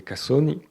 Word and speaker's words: cassoni: roseau, qu'on appelle des cassoni. Cassoni, c'est un entre le S et le 2S avec un petit chuintement, c'est très très spécifique à prononcer.